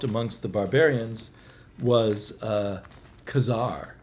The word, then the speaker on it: Ka-Zar: The Barbarians was uh Kazar or Kazar as we've all learned to pronounce it once we learned how Stan Lee pronounced it but I think Kazar